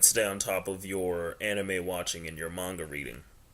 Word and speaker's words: anime: Well, the word is actually pronounced anime, or AHNEEMAY, which basically is an abbreviation of the word animation in Japan.